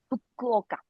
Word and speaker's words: Fukuoka: in Japan that is, hmm but could you pronounce it again for me because I'm stumbling on it. Fukuoka.